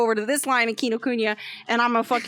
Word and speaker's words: Kinokuniya: to get in here right next door was kino kunya or kinokuniya whatever however you i don't know how are we pronouncing oh you got it right yeah oh